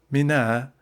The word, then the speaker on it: Mina: Footnote Mina that I is pronounced very short is a suburb of Mecca and a footnote.